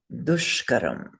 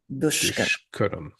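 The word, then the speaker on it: duṣkaram: Yad abhyasasya dushkaram. Say with me. Yad abhyasasya dushkaram. dushkaram. Dushkaram. Dushkaram. Dushkaram. Good. So they all have the same weight.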